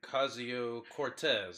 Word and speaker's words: Ocasio-Cortez: we have this person Cascio Cortez apparently the O is silent if I'm wrong you